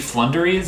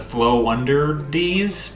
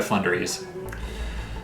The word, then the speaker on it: Floowandereeze: uh for sure and i am going to be pronouncing it with their ocg flunderies instead of flow under these because you know it sounds like flow under these nuts i'm not gonna make that joke i've made it plenty of times before um but from here on out i'm just gonna pronounce it by flundries um but what i